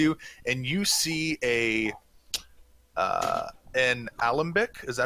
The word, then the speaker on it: alembic: The shelving unit right next to you, and you see an alembic. Is that how you pronounce it?